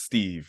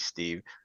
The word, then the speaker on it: St3v: Now, tell me, it is pronounced Steve, right? Not like... Well, it's actually, it's how you want to pronounce it, bro. You can pronounce it St3v, Steve. You can call me 3.